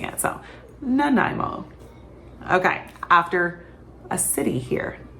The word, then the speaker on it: Nanaimo: Okay, so if you are trying the Nanaimo bar, that is how you pronounce it. Nanaimo.